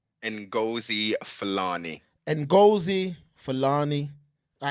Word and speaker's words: Ngozi Fulani: you know these African names that I can't pronounce it say that again mobile please and go see felani and gozi Fulani all right we're not gonna butcher her name